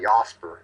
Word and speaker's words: Jasper: If us Angles pronounce it, it's actually Jasper if you're German Jasper.